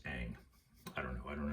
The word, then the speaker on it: Ingres: And this is by an artist named Ingres, I-N-G-R-E-S, but it's pronounced Ang.